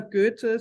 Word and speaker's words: Goethe: Is it pronounced Goethe University in Frankfurt? Yeah, pretty similar Goethe. So it's not Goethe.